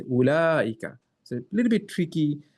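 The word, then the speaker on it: أولئك: If it was just pronouncing it the way it's written, it should be ooh laika. But it's completely opposite. You don't pronounce here, but here as a hidden alif. So you say ulaika.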